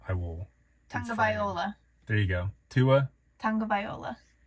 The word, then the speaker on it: Tagovailoa: Tagovailoa. There you go. Tua. Tagovailoa. Close. Oh, I'm saying Tagovailoa. Tagovailoa.